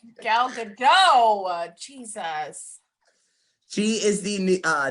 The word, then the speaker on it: Gal Gadot: second okay because i i pronounced it wrong yesterday and i got really people got really mad at me um because i was like oh yeah number four is gal gadot oh gal gadot jesus she is the